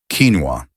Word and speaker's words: quinoa: Quinoa, pronounced quinoa.